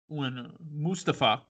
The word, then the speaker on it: Mustafa: dana brooke right before the survivor series mustafa and again that's the quick uh correct pronunciation now when mustafa ali was ringside for